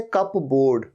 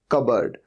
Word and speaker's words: cupboard: तो लगता तो ऐसे कप बोर्ड, कप बोर्ड नहीं, ये होता है कबर्ड।